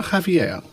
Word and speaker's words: Javier: Or Javier or Javier? Javier, because he's Spanish.